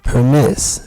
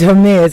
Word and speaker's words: Hermes: So whatever accent they pronounce it with, but because it is a Greek name, I will pronounce my name would be Hermes. Hermes. Yeah. Okay. All right. So y'all got it. It's Hermes.